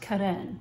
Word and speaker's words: Carene: My mind wants to say Carene, you know, but I believe it's pronounced Carene.